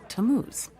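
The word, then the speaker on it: Tammuz: what t a m m u z it's pronounced tamuz maybe if you show them your evidence he'll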